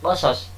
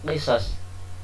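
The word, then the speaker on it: قصص: Lafaznya qasas bukan qisas. Ini qiraah Abil Jawza bacanya qasas.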